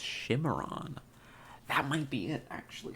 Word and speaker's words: Cimarron: Pronounced Shimmeron.